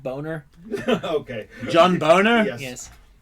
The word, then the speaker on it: Boehner: pronounced boner.